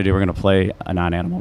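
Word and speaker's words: Anonanimal: Now it's a non-animal and an animal, ano-animal. I've heard people pronounce it all different ways. A non-animal is what I say.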